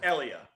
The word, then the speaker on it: Elia: So you said pronounce it ELIA, and that's the Yes, official ELIA.